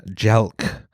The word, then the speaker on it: jelq: man entomology from Persian jelk let's see is the US um rhymes with elk yeah uh uh noun